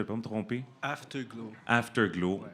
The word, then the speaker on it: Afterglow: Afterglow, ouais. Comme ça s'écrit dans le fond.